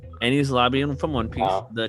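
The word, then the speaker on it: Enies Lobby: Did I pronounce that correctly? For my one. Ain's Lobby. Ain's Lobby. What? Enni's Lobby. Don't listen to me. No, isn't it Ain's Lobby? No. Ennies, bro. No. Ennies. It's Enni's Lobby.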